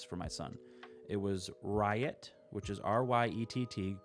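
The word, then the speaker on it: Ryett: picked three names for my son it was riot which is r-y-e-t-t pronounced riot ryot levi and alice so i literally just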